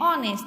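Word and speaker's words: honest: तो silent H है इन दो वर्ड में, आर एंड ऑनेस्ट, तो उसके आगे एन आर्टिकल लगता।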